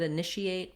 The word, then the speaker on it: initiate: And then finally, let's just look at initiate because that, I think, pairs well with initiative as well, where we have the same I sound, then we have our niche, and then we have an E8.